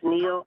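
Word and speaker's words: Neal: you state your name state your name um spell it for the record please yes ma'am it's re NE last name is Neil n e a l and I'm the commissioner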